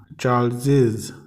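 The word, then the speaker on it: Charles's: देखिए इसको कैसे प्रोनाउंस करेंगे। चार्ल्स, चार्ल्सेस, चार्ल्सेस, चार्ल्स यहाँ तक पढ़े तो चार्ल्स, चार्ल्सेस।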